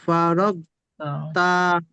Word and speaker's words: فرغت: فرغ গয়েন যাবার রগ ফারগ তা ফারাগতা। ফারগ তা فرغت টান নেই এখানে, কোনো টান নেই, ফারাগতা।